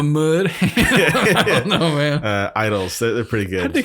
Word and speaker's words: IDLES: You know, I found this really cool band called Idols, IDLES. And it's there's kind of Like idling a car. Like that's how it's spelled.